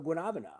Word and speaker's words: guanabana: So pawpaw is a relative of the guanabana.